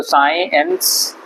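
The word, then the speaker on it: science: SI भी आप लिखेंगे तो साई बोला जाएगा उसको, तो साइंस, इसलिए सी साइलेंट है।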